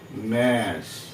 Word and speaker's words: gnaw: GNAW, ন, জিটা উচ্চারণ করছি না কিন্তু এখানে আমরা, তাই না?